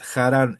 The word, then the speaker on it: Jarán: Pero vinieron hasta dónde ahora esto que está acá en verde, vieron que se escribe parecido a Arán, pero es una J. Acá es jaran.